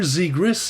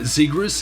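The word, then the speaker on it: Zegras: au Canadien de Montréal zigrus est toujours un canard et ici la prononciation du a est très importante et honnêtement je peux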